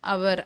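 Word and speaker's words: hour: ஏன் அப்படின்னா இப்போ இந்த ஆன் அவர் அதில் பாருங்க, ஹெச் வந்து சைலண்டாக தான் நம்ம ப்ரொனவுன்ஸ் பண்ணுவோம், ஓ தான் அங்கே மெயினாக இருக்கு. அப்போ ஆன் யூஸ் பண்ணும்.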